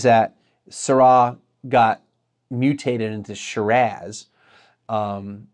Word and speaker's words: Shiraz: one of the episodes you may have heard me say shiraz instead of shiraz that's because that's how the aussies pronounce it they're the ones that came up with calling the syrah grape shiraz the theory is that